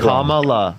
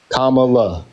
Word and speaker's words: Kamala: someone who will okay can you tell me how to pronounce it if I'm pronouncing it kalala Kamala commala there you go okay um I want